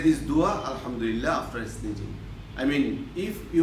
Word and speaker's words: Alhamdulillah: Here ha is a little bit harder for some boys, because some boys cannot pronounce accordingly. So if you try, I do believe also, if you try with concentration, you will be able to pronounce it correctly. Alhamdulillah. This ha is pronounced from the throat.